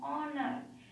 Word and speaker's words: honor: Hour, honor, honest. The O sound is coming. So here H is silent.